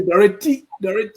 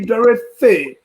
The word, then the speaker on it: Dorothy: Sine Potipa, when he came, he taught us proper pronunciation, especially with the TH sound. So every time, like my sister was Dorothy, we used to say Dorothy. He said, no, it should be Dorothy.